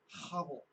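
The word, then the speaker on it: hevel: It's actually the Hebrew word havel. Havel. It's not actually Abel. It's Abel because no one likes saying that syllable in English. It's not a real letter in the English language.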